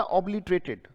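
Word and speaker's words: obliterated: ऑब कैसे पढ़ा जाएगा, ऑब, OB, लिट या LITE, लाइट होता है तो इसको लिट पढ़ लो, ऑब्लिट, और रेटेड आप जानते ही हैं, ऑब्लिटरेटेड, राइट।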